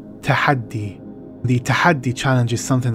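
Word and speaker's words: Tahaddi: title the tahadi challenge this arabic word tahadi pronounced tahadi tahadi the tahadi challenge is something that comes from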